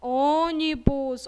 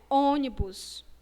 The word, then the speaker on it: ônibus: Ônibus. Olha aí a palavra ônibus. De imediato, vocês já fecham o som, né? Ônibus. Para pronunciar a palavra, você já fecha o som.